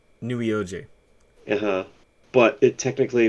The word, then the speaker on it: Neweoj: to pronounce it and probably the best way to pronounce it is nuioji nuioji but it technically it's